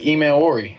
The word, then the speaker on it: Emmanwori: It's really emani. That's how my dad said it.